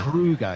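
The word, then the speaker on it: Kruger: name again Dexter Krueger Krueger yeah Krueger like the national park in South Africa no relation to Freddy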